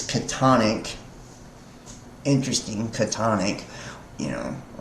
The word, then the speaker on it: chthonic: The pronunciation of chthonic is catonic.